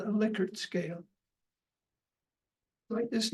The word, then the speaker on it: Likert: Notice I've used the name Likert. That's the way he pronounced his name. People who don't know any better call it Likert. You know better now. It only has one K, but it's not Likert.